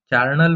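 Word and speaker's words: charnel: चार्नल में यहाँ पे एच को आप साइलेंट कर दीजिए, तो कार्न मतलब फ्लेश और हाउस तो हाउस समझते ही है।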